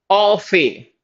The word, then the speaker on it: au fait: T is silent. Au fait.